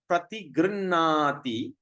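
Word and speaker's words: प्रतिगृह्णाति: When you see the R at the dot, there's a dot at the bottom. We're going to pronounce as rrr, like vroom, rrr, rrr. So that's a sound.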